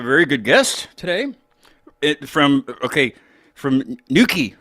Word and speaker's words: Newquay: From Newquay, right?